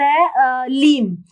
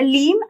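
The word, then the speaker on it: ह्लीं: माँ बगलामुखी का बीज मंत्र है लीम, उसकी प्रोनाउंसिएशन लीम है, वैसे उसको हलीम बोलते हैं।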